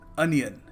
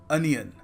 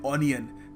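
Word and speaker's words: onion: अनियन, इसको हम अपने भोलेपन में कह देते हैं ऑनियन, क्योंकि ओ लगा हुआ है, but again English is a very funny language, so you must pronounce it अनियन। ये इसकी करेक्ट प्रोनाउंसिएशन है, सो याद रखिएगा, ऑनियन नहीं, अनियन। देखिए, अगला शब्द है विटामिन,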